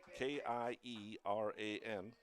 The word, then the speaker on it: Kieran: Kieran is spelled K-I-E-R-A-N. Pronounced Kieran Sullivan.